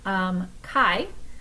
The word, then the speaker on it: chi: So this is pronounced "chi".